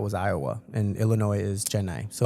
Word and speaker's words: Chennai: How do I pronounce the city that you're from? I'm from Chennai.